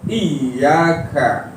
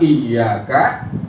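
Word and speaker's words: إِيَّاكَ: Ketika kita baca suratul Fatihah, iyyaka na'budu wa iyyaka nasta'inu. Ya. Itu ada tetap saja, selalu saja ada khilaf. Ya. Iyanya disyiddahkan, ya. Iyanya dengan tasydid, makanya dibacanya iyyaka. Ya. Jangan dibaca iyyaka.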